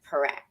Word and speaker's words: Parekh: I met Raj about a year ago, and I have been struggling forever saying his last name, and I have finally learned to say it correctly, Parekh.